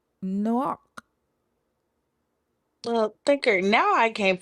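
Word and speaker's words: נח: So his name in Hebrew is pronounced Noach.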